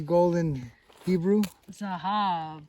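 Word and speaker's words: זהב: Zahab. Spell it. Zayin. Uh-huh. Hey. Hey. Bet. Exactly. Zahab.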